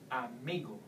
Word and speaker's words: amigo: You will have to go to the second last syllable and pronounce mi, amigo.